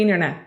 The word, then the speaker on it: internet: So it means to explore the internet. And I don't know if you've noticed, but I've been saying internet because internet, that's how Americans usually pronounce this word, okay? Internet, like an N, internet.